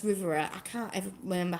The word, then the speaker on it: Rivera: about um near i want to say riviera oh it's rivera i can't ever remember